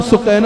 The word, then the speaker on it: سکینہ: سکینہ کہا جاتا ہے، نام سکینہ ہے، اصل تلفظ سکینہ ہے۔ آپ کی شہزادی حضرت